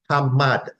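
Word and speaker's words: amad: in the Hebrew is translator ated to English as a m a d and it is pronounced hmad hmad hmad meaning to stand in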